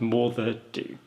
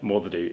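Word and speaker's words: Moddey Dhoo: let me off but i think it's pronounced mother do mother means dog do dho means black black dog so there's a there's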